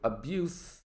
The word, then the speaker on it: abuse: children had suffered sexual abuse at the school this was a major scandal in the country so you hear my pronunciation abuse that is the noun the verb is abuse this is to treat